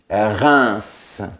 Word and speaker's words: Reims: Donc, E-I-M se prononce 1 et on prononce la lettre S. Reims.